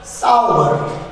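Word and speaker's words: sour: अब इसका प्रोनाउंसिएशन थोड़ा सा डिफरेंट है। इसका प्रोनाउंसिएशन क्या है, देखिए इसका प्रोनाउंसिएशन रहेगा साउवर। क्या है इसका प्रोनाउंसिएशन, साउवर। ये सोर नहीं है, साउवर है ना।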